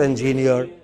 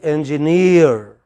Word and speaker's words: engineer: No, it's not engineer. It is engineer.